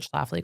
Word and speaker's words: Schlafly: can actually nail that L in there.